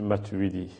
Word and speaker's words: Matuwidi: Bonjour, monsieur Matouidi. Bonjour, monsieur. Matouidi, j'ai bien prononcé? C'est bien ça, monsieur Matouidi.